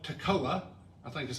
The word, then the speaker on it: Tekoa: Amos was from a village called Tekoa, I think is how they say it, to the south in Judah, again, where the temple was.